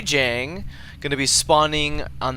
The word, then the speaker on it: Jjang: what his name means it's actually I guess pronounced Jang and it's a a